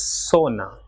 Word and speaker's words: zona: Same way, ZONA will be pronounced as sona, and ZORRO will be